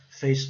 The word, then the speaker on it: face: Vamos lembrar, o E nunca é pronunciado, né? E o A com som de E.